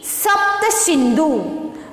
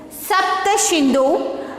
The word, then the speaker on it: Sapta Sindhu: Okay, and see here next one, SAPTASINDU, Sapta Sindhu. Sapta Sindhu, the Rig Veda periods.